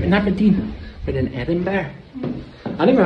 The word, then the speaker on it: Edinburgh: No, not in Aberdeen, but in Edinburgh. I don't know how to say it. Edinburgh. Edinburgh. Edinburgh. Edinburgh. Edinburgh. So you say Burgh, but it's not like that. It's Edinburgh. Edinburgh.